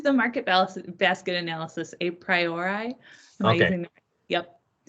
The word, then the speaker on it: a priori: we just use the market balance basket analysis a priori yep said that again what was that a pr am i pronouncing it right yeah a priori that's right yeah it's a market basket analysis